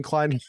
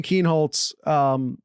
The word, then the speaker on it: Kienholz: Of course, then again, maybe Lincoln Klein, Kienholz. I always mispronounce his name. Lincoln Kienholz.